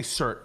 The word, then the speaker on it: certiorari: After we granted certiorari, how do I pronounce that again? Certiorari. Certiorari. People pronounce it differently. You could say cert too, if you just want to.